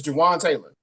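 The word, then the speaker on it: Jawaan Taylor: name right not him there he go yeah Jaan Taylor there we go it's Jawan Taylor get him out of there get him out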